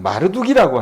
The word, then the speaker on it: 마르둑: 이 무로닥은 뭐냐면은 마르둑이라고 하는 이 발음으로 원래 되는데 무로닥은 바벨론의 우상이에요.